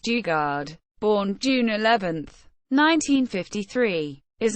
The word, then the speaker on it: Daugaard: Dennis Martin dard pronounced Dugard born June 11th 1953